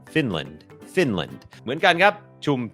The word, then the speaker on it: Finland: ฝึก ออก เสียง Finแลนด์ อ่าน ว่า Finland Finland โอเค อัน นี้ บ่ง บอก ว่า อ่า จำ ได้ มย อัน นี้ ก็ เน้น พยางค์ ขึ้น สูง Fin fin พยางค์ ไม่ เน้น L Finland Finland เหมือน กัน ครับ